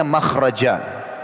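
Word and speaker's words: مخرج: Akan ada tulisan mim kha ra jim. Bacanya makhraj.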